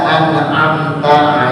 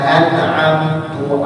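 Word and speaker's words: أَنْعَمْتَ: Seperti harusnya dibaca an'amta alaihim, siratal ladzina an'amta alaihim. Harusnya an'amta, taknya baris fathah, baris atas. Dibacanya dengan dhammah ta, siratal ladzina an'amtu alaihim.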